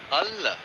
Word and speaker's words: Hull: Hull. Can you get the pronunciation right here, Harsha? Hull.